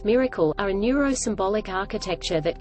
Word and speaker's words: MRKL: sources llms using tools mrkl systems modular reasoning knowledge and language pronounced Miracle are a neurosymbolic architecture